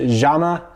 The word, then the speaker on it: Llama: today this is a llama or I think in the Spanish it's pronounced Zama this is a 22